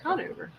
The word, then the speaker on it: Conover: Conover.